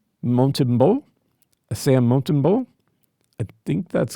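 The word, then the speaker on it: Montembeault: this one guy, Sam Montbo, Montimbo, Sam Montbo. I think that's going to be right. Uh in French, you tend not to pronounce consonants unless they're followed by a vowel.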